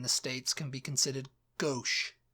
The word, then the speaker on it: gauche: States can be considered gauche. Is that how you say it? Gauche? Gauche, yeah. Gauche.